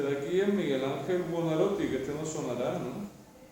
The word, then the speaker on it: Buonarroti: En italiano no tiene la R, así que no es Buonarroti, sino que es Buonarroti.